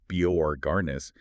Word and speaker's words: Borgarnes: And what's fascinating here is that Borg and it's pronounced Biorarnis is defined by two uh profoundly intense and linked narratives.